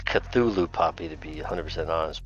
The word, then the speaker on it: Cthulhu: It's Cthulhu Poppy to be 100% honest, but.